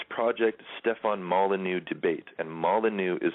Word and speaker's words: Molyneux: type in venus project stefan molyneux debate and molly new is spelled m-o-l-y-n-e-u-x i just watched this two days